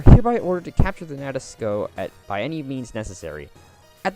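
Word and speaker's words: Nadesico: The I in the name of this ship is actually silent. It's pronounced Nadesco. Yeah. I actually started watching that show recently. That's why I know that. And it is pronounced Nadesco in both the English and Japanese dubs.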